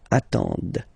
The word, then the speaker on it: attendent: Ils attendent, okay, so remember you get to pronounce this, d at the end, okay. Elles attendent, alright. If you make the link, ils attendent, elles attendent, okay.